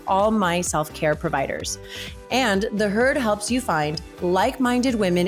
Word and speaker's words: The HEARD: easily find it by searching for the herd that's spelled t-h-e-h-e-a-r-d all one word in the app store